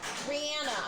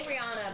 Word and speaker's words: Rihanna: It's a Rihanna song. Rihanna. I'm sorry. I say Rihanna, but it's Rihanna. She says Rihanna.